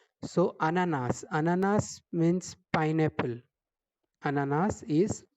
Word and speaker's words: ananas: Ananas. The first fruit is ananas. Here we are pronouncing the last letter S.